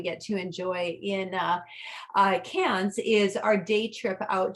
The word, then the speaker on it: Cairns: correct than karen's is they don't pronounce that r the same way that that we do typically um a really a spectacular day that we get to enjoy in uh cans is our day trip